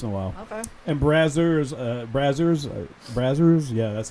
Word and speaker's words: Brazzers: And Brazzers, yeah, that's how you say it.